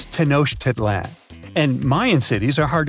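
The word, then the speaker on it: Tenochtitlan: Yes, it's quite difficult to say in English and above my pay grade. Okay. Okay. It's Tanosh Titlan.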